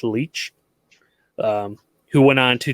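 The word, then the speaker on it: Leitch: was uh david uh i think his last name is pronounced leech um who went on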